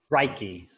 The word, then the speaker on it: Reiki: And I understand that, is it Reiki or Reiki? Reiki? Reiki, right like the grain, key like a door. Pardon? Reiki. So it's Okay. like Yeah, rye, like the gray rye, and then ki. yes.